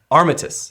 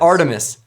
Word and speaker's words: Armistice: Armistice. Not Artemis.